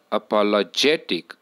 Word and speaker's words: apologetic: apologetic a pa la this word has five syllables in it it has five vowels in it and out of these five syllables a pa le j tick the fourth syllable is the most prominent syllable and therefore it takes primary stress right but out of